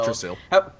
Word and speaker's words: Yggdrasil: I can't pronounce my Norse very well. Yggdrasil.